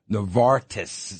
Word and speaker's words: Novartis: Anyway, pharmaceutical companies, Novartis, that's how you say it, Dick?